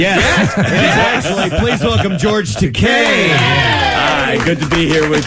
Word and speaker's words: Takei: a delight to have you pronounce my name properly thank you it's you know I'm sure it's flattering though I mean they didn't mean to Mis sure and I I don't object to takai either because takai is a